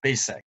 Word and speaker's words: basic: is this word basic i heard many south koreans pronounce this word as basic and the pronunciation basic is so prevalent that many people tend to think that this word is pronounced as basic not basic but the proper pronunciation is basic so we are going